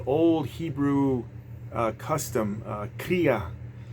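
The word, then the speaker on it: kriah: uh is an old Hebrew Uh custom uh Kaa it's pronounced Kaa it's k r i a h and it's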